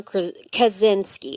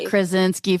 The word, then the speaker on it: Kaczynski: so Theodore John kazinski and that's I want to say krinski I know I know it's so hard I had to like phonetically spell it out and then I have to do that you kazinski kazinski yeah exactly not krinski from the office although love different guy